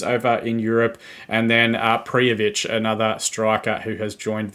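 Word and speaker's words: Prijović: Prijovic.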